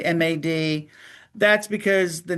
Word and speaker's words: M.A.D: That's a lot of letters and a lot of syllables. So we kept it short and just said MAD.